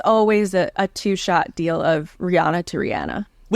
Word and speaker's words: Rihanna: Do you say Rihanna or Rihanna? It's Rihanna. That's how she pronounces it.